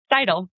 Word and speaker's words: Seidel: As you're talking, I am currently reading, now forgive me, you'll know how to pronounce his last name. I always forget. Andrew Seidel. Seidel. Yeah, I called him Andrew Seidel for the longest time, and I did a conference with him.